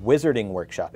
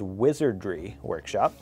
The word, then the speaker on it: Wizardry Workshop: designed by me from wizardry workshop some people are mispronouncing this and saying wizarding workshop it is wizardry workshop reusable coffee sleeve okay